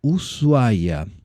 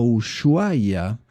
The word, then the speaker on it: Ushuaia: Hoy vamos a hablar de Ushuaia o Ushuaia, como muchas personas extranjeras pronuncian este nombre.